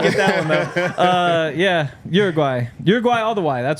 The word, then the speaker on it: Uruguay: Shout out Uruguay. Is that how you pronounce it?